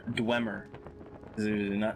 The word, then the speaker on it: Dwemer: Or Dwemer. Not two E's. Let's say it right.